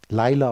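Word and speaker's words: לילה: Und im Hebräischen heißt Lila Nacht, Laila ausgesprochen.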